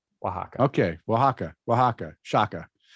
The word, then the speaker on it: Oaxaca: uh help pronounce it it's probably gonna be like aksaka or something Osaka it's a city in in uh I know it's a city in Mexico okay here you go Oaxaca Oaxaca Oaxaca okay Oaxaca Oaxaca Shaka